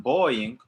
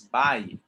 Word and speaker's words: buying: It's, I don't like this word because it has a U and it doesn't sound anything like a U. It's not boying. It's buying.